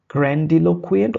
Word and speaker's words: grandiloquent: grandiloquent, grandiloquent or grandiloquent, both are okay.